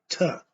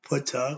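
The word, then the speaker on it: Ptah: And then the self-creator, Ta. We call him Putta, or the P is silent.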